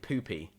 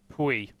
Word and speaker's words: Pui: It is technically Pui. Okay, so that's the pronunciation. I've spoken to him. I've chatted with the guy. He said, "You know what, can we Pui? That's fine, but Pui." There's a little accent going on in the I, which I think makes you change the way that you pronounce it a little bit.